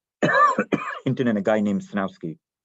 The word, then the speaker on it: Sejnowski: There was Rumelhart, McLennan, Hinton, and a guy named Snowski, spelled Sejnowski, but it's pronounced Snowski.